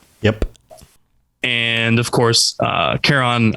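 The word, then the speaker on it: Charon: and of course uh caron i i think i'm pronouncing that correctly chair on tehran yeah chair on uh karen hopefully not karen yeah uh the boatman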